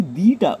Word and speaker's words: the: দি before a vowel sound.